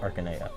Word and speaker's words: Arcanea: yep continent of arcanea i've seen some debate about arcanea versus arcania versus arcana but uh do we do we have an official pronunciation in fire emblem heroes they call it arcanea okay and that game's